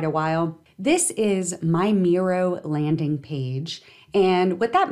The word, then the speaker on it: Miro: today we're going to take a look at mirror it's spelled m-i-r-o and this tool comes with a